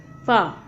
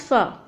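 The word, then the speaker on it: ف: To pronounce fa, we have to touch the wet part of our lower lip with the tip of our incisors. Fa. Fa. It is just like letter or sound F in English.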